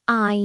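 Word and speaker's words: 爱: This is pronounced I. It's a verb. For example, you can say what I need, which means I love you.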